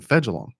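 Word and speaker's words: Fejedelem: Clayton Fegelum. That's how you say his name, Fegelum. Fegelum.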